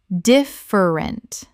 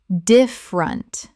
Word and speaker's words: different: Common mispronunciation. Different. Correct pronunciation. Different. Native speakers reduce this to 2 syllables in normal conversation.